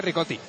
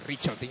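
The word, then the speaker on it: Richotti: a ponernos de acuerdo realmente se pronuncia ricoti Lo que pasa que los argentinos a la ch tienden a decir pues rotti entonces por eso cómo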